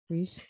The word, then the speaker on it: Rich: Yeah, it's Reach.